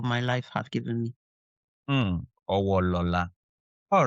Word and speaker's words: Owolola: What's the new pronunciation? Owo. Okay, Owolola.